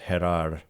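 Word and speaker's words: Jerar: a very strong thing unless they really believe that gerar I'm sure pronounced herar uh and cardion is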